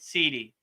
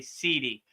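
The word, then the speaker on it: siddhi: It's spelled s i d s i d h i right sidi. So it sounds like cd but it's really sidi.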